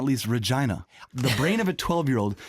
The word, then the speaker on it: Regina: It's pronounced Regina, like vagina.